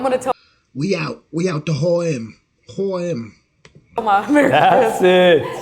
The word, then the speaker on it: H&M: And they'll be like, why are you pronouncing it that way? And you're like, because it's Swedish. It's a Swedish brand.